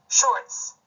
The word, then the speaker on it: shorts: 같이 보시면서 자 이렇게 돼 있는 것이죠 그러면이 발음이 표현될 때 글자로 표기한다면 shorts 이와 같이 표기할 수 있다는 것입니다 입니다 자음